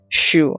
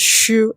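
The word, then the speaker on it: jus: is to make the shoe. So this is the Dutch word. It is called shu. And yes, it is spelled J U S, but it is pronounced shu in the Netherlands.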